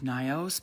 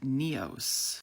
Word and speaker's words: Nyos: Over the last 5 years, I've always called this Lake Nyos, but thanks to this comment from a local, it's actually pronounced Neos.